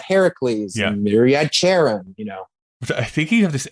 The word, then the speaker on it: Charon: you maybe add Heracles, and maybe you add Charon, I think you have this. It's Charon. Is, I think how you say it. Yeah. Yep. Which of course, it's Charon.